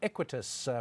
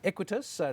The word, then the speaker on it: Equites: new listing this morning equities property fund we've been pronouncing it wrongly and we apologize for that we were saying it quite equitas listed on the jse